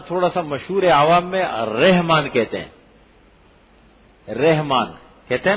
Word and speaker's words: رحمان: اور ایک اس کا تلفظ ٹھیک ہونا چاہیے. آج کے بعد رحمان بولیں اس کو. کیا ہے؟ را کے اوپر زبر ہے، رحمان.